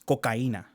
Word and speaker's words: cocaína: It's cocaína. Cocaína. Yeah. I So feel like I've heard that before. yeah, cocaína is how you say it in Spanish.